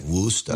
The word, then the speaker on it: Worcester: But you got to say it like Worcester. Worcester, of course.